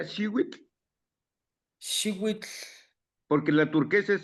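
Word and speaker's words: xihuitl: Eh, por lo de Teo, si lo traducimos como energía, entonces energía azul también se pronuncia Shiwit, Shiwit, porque la turquesa es azul.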